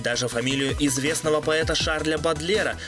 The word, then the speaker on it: Бодлер: Ведь даже фамилию известного поэта Шарля Бодлера она произнесла неправильно, с ударением на первый слог.